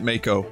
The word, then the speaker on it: Mako: and yes i pronounce it mako sorry if this is a problem for you let me show you